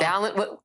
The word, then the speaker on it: Balint: I always say Balint rhymes with talent. So Balint, and I love that.